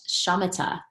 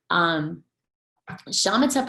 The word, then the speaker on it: shamatha: So these practices traditionally are called shamatha practices. And that's spelled S-H-A-M-A-T-H-A.